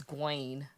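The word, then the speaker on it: Gwayne: His name is Gwaine. Ew. Like G Wayne. That's how it's spelled.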